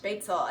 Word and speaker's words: Spaetzle: And yes, it is pronounced Spaetzle, and that is a small little noodle that you will make in Germany.